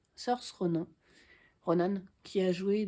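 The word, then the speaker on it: Saoirse: Je crois que ça se dit Sorcha d'ailleurs comme l'héroïne. Ça s'écrit wars s a O i R S e. Sorce Ronan Ronan qui a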